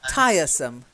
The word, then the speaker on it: tiresome: we don't sound yeah it's not it's not a rolling are no it's just tiresome oh yeah so much better yet I'll the stress the stress is on the first syllable tire tires and how